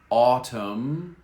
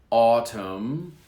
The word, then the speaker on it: autumn: smoke jump jump harmed harmed now we have silent letters here come autumn no n autumn autumn autumn is the same word as fall in